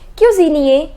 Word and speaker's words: cuisinier: The pronunciation is boulanger, ending with ER. Boulangère. Boulanger, boulangère. The next is cook. Cook is cuisinier. The pronunciation is cuisinier, ending with ER.